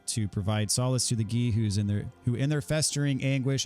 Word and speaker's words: Gi: Gi, like karate gi. Used to pronounce it G.I. as a G.I. Joe.